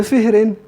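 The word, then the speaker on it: فهر: Bi kasrul fa'i, dengan kasrah fa wa sukunil ha.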